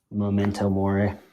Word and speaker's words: memento mori: Sorry, can you pronounce that one more time for me? Memento mori.